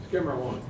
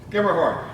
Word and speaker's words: Schermerhorn: Somebody can pronounce that better than me? Skimmerhorn. Skimmerhorn.